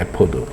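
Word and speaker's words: אפוד: 우리말로는 에봇이고요. 히브리 발음은 에포드입니다. 에포드.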